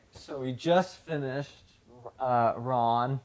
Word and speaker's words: Ran: Okay, so we just finished uh Ron, which um I was corrected if that's how that's how you're supposed to pronounce it.